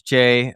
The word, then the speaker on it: Jai: actual pronunciation is Jay, but I have accepted all pronunciations. Most people Oh, pronounce it Jai, and I accept if it.